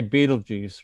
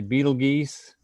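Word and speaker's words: Betelgeuse: like what what like i always say beetlejuice right some people say beetle geese beetle geese beetle guys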